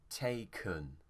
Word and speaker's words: taken: This one here, the stress is on te, so that means the vowel here will become kun. Taken.